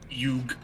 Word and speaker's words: Yug: How will you pronounce that actually? Yug. Jug Yeah. or Yuk. Jug? Jug. Yug.